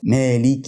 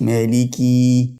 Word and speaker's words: مالك: الرحيم ما فيهاش فرق ما لك يوم الدين خد بالك من كلمه مالك طبعا او الميم عليها فتحه زي ما احنا قلنا اللي انا عايز الفت نظرك له حرفين في الكلمه دي حرف